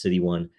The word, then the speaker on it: 0xc1: This is episode City 1. That's 0xc1. It's the 194th episode. Again, it's pronounced City 1.